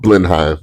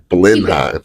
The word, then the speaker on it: Blenheim: it was off Blenheim off Blenheim I'm glad I pronounced that word um correct listen everybody every time they call me they say that blim that's great I love